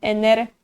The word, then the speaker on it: energii: Mas a pronúncia é diferente. Em português, energia. Em polonês, energia.